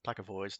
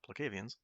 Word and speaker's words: Placavians: So, in Crichton's version of everything, Stark says that the Placavoids, and in this version everybody mispronounces it as Placavoids, not Placavians, are an evil race who produce weapons like scatter grenades, seismic disruptors, and Novatrin gas.